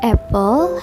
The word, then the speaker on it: apple: The first syllables that stressed is pronounced more strongly.